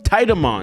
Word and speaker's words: Titamon: I've been saying his name wrong for the longest time, and only recently some of y'all corrected me. That's on you. That's not on me. That's on you. Titamon.